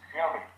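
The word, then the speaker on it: Mjölby: Mjolby.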